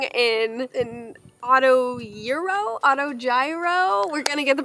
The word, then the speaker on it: gyro: has informed me that it is gyro not Euro so I feel like